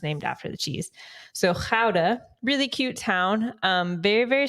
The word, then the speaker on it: Gouda: First one was, I pronounce it Gouda, but it's Gouda. Yeah. Like Gouda cheese.